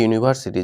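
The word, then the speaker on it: university: ইউ এর মতোই হচ্ছে যেখানে ইউ এর উচ্চারণ ইউ এর মতোই হয় ওখানে এ হয়ে যায় এন হয় না আর কলকাতার আগে এখানে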